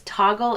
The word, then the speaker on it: Toggl: tool that I love which is also free as toggle it's spelled t OGG l it is a time